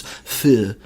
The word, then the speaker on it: feu: So there's some debate over where this term came from, whether it's like his Americanized pronunciation of the French word for fire, which is feu, F-E-U.